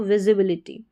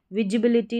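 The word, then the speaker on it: visibility: से तो यहां पर एस को हम ज़ प्रोनाउंस करेंगे। तो विजिबिलिटी विजिबिलिटी इसका सही प्रोनाउंसिएशन हो जाएगा। विजिबिलिटी नहीं विज़िबिलिटी।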